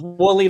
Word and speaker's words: Wooley: No, it's just woolly like the sheep.